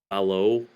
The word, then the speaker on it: Valo: Uh, the new Vil Valo, that's how you say his name.